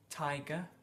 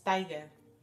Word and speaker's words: tiger: Tiger. Tiger. Tiger. Yeah. Tiger. Normalmente los españoles decimos tiger. Tiger. Como pronunciado, ¿no? Con mucho yeah.